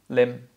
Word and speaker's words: limb: So silent B in all cases. Debt. Oh, debt. Doubt. Doubt. Thumb. Thumb. See your tongue. Thumb. Thumb. Limb.